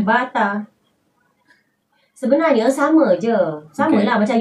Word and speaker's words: Bata: tulisan d e Ada bata juga you Baca bata Yes Nah kalau Indonesia Bata itu ya bata bacanya